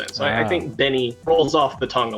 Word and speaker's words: Bny: How do you pronounce it? Do you say Benny? We did a poll in chat right before it started, and it seems the consensus was Benny.